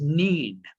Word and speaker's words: Nain: that's my village the name of that village is neen which would then translate into nain or as we mispronounce it name the widow of name